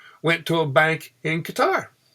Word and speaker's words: Qatar: The share we got went to a bank in Qatar, cutter, however you want to pronounce it.